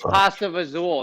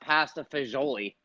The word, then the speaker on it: pasta fagioli: supposed to be uh that's not how you say it it's pasta azul it's not pasta fagioli where did you hear that a pasta puzzle is one of the ways that certain people say it you gotta add like